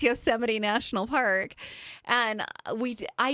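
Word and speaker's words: Yosemite: the card and um she pronounced Yoseite National Park Yo. I we we were weeping with tears laughing. She poor girl didn't know. Yeah. here's this like 15-year-old girl that doesn't know that it's Yoseite National Park and we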